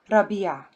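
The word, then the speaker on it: ربيع: Again, ra, the second syllable, biya. Put them together, rabi'a.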